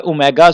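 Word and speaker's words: omega: एक पड़ा हुआ है ओमेगा स्क्वायर। कोई स्टूडेंट इसको डब्ल्यू पढ़ेंगे तो डियर स्टूडेंट ये डब्ल्यू नहीं है, ये ओमेगा है।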